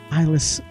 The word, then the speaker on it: Islay: It's not Islay. Isla, I believe is how you pronounce that, right?